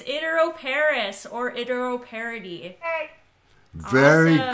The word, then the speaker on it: iteroparous: I don't know if I'm going to pronounce this properly. It's iteroparous reproduction. Is that right? You got it. It's iteroparous or iteroparity.